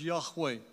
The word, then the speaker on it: Yahweh: revealed name of the god of Israel we pronounce it as Yahweh nowadays the Jews themselves don't like to express